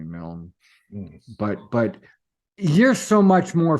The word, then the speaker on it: Milne: is more Scottish, and the Scots say Millen. I'm okay with being called Milne, although I do like Milne best. Americans say Milne. I fucking hate that. Oh yeah, But there's put that e on it. That e as an e. That's right. So there's nothing that I can do about that except gently inform them that's actually Milne.